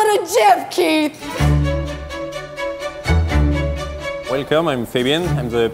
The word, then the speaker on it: Keith: I say it as Keith. Why is that? Because that's how I pronounce it. Because your parents named you that. Now, if people started calling you Keoth or Keith or something,